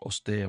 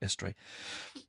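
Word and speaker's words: Eostre: It's E O S T R E. I'm going to say it wrong. Oster or Estre.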